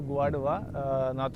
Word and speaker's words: Guadua: There is one variety I told you, Guadua, South American How variety. do you spell it?